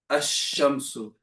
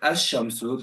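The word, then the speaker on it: الشمس: So for example, when we say the word ashamsu, we said ashamsu, the lamb's there, but we're not pronouncing the lamb, right?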